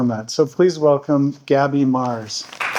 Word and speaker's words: Marz: But like I said, my last name is Mars. Mars like the planet, but it's spelled with a Z, which makes it cooler.